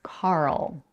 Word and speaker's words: Carl: let's first pronounce Carl we start with car you know like the vehicle you drive car the first sound is the voiceless Veer stop in this case because we have only one syllable the syllable is stressed by default and because the stop C comes at the beginning of the stressed syllable we have to aspirate it this means that we